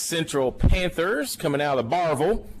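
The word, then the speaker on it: Barbourville: Panthers coming out of Barville, as they pronounce it there.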